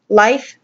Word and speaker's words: Laejth: I just name it Laejth. Um, just because if you Google that name, you will never see a definition for that, and that's the name of my son with a silent J.